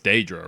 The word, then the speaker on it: Daedra: I think it's very interesting that they pronounce it like Deirdre in this game. But in Skyrim, it's Daedra, right? It's like day. They say the A.